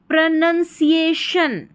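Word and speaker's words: pronunciation: यहां पर है पी आर ओ प्र इसको प्रो नहीं पढ़ना है। प्र एन यू एन इसको नन पढ़ना है। ठीक है? फिर है सी आई इसको सी ए सी ए और शन प्रोनंसिएशन प्रोनशन यहां पर ध्यान रखें सी आई साथ में है।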